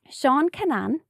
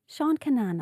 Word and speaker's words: Seán Kinane: Seán Kinane. Seán Kinane. Am I pronouncing that?